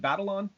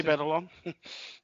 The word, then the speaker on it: Batalon: Jacob, is it Batalon? Does anybody know officially if that's? I would say Batalon.